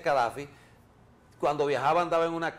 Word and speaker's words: Gaddafi: y cadfi O gaddafi creo que se escribe gadfi se pronuncia cadfi cuando viajaba andaba en